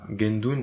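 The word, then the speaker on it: Guendune: Est-ce que vous pouvez juste bien dire son nom pour le que les personnes puissent Gendon, ça s'écrit G U E N D U N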